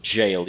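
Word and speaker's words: gaol: the um the black jail Knight and yeah it's pronounced jail even though there's no j or I HST which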